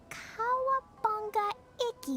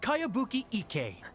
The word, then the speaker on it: Kayabuki Ike: Who's this Kawabanga? It's pronounced Kayabuki Ike. That would be me.